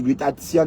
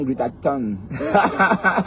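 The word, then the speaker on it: glutathion: Que le lot glutatan, que on dit glutation madame, glutation et non glutaton, vous souvenez ?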